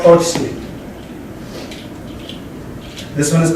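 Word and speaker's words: tochtli: Tochli. So what's cool about Nahuatl is that since we use the alphabet that we're used to, the way it's spelled is exactly how it sounds.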